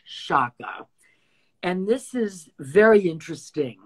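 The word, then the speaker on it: Sciacca: One of the types of Sardinian or Mediterranean coral is something called shaka, S-C-I-A-C-C-A, pronounced shaka.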